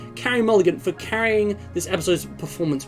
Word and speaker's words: Carey Mulligan: to uh Carey Mulligan I believe that's pronounced Carrie Mulligan for carrying this episode's